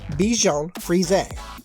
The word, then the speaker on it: Bichon Frise: And yes, according to the American Kennel Club, the correct pronunciation is Bichon Frise.